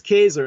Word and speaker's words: Caesar: a different direction was Julius Kaiser in the correct Latin pronunciation for Caesar as it sank old